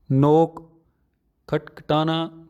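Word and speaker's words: know: मारना कि लडकी लड नोक्ता नोट्स नोट्स कि नो जानना न्यू नॉन मैं इसमें के साइलेंट है इसलिए हम इसे नो बोलते हैं कंट्रोल नहीं बोलते इसे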